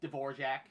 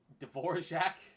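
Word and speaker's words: Dvořák: his name is awful Dvorak Dvorak and it's it's spelled Dvorak if you if you pronounce it like directly right where where did where did the where did the J sound come from I know this is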